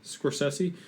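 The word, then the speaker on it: Scorsese: twice um did you see uh what Martin soresi has said this past week did I pronounce that right soresi soressi soressi yeah uh he said Adam Driver is the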